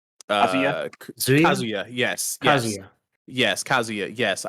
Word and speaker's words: Kazuya: But yeah, this is a very exciting announcement to me because I love Tekken and I don't know how you pronounce his name. Kazuya.